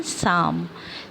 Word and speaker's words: Psalm: शाम पीछे अल एम इसमें पी साइलेंट इस टाइम इसको कैसे प्रिंस करते हैं इसको कहते हैं शाम शाम मतलब होता है